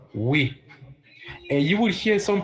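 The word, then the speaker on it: oui: you got that right yes in French is what we and you would hear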